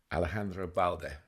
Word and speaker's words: Alejandro Balde: Alejandro Balde.